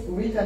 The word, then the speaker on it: Ghita: So my name is Ghita. It's written G-H-I-T-A, but it's pronounced Ghita.